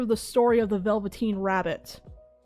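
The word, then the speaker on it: Velveteen: Have you guys ever heard of the story of the Velvetine Rabbit? It's a really old British story from like the 1920s. Have you guys ever heard of the story of the Velvetine Rabbit?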